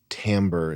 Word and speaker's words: timbre: It's sort of the same thing as like letting someone with a voice with an incredible timbre. Is that how you pronounce it, Chris? Yeah. An incredible timbre, smoking and being deep and letting their voice wash over you.